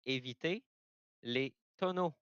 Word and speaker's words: éviter les tonneaux: And from one Canadian to another, why don't you help me out with how you pronounce this race name tonight? It's avoid the barrels in French, so it's éviter les tonneaux.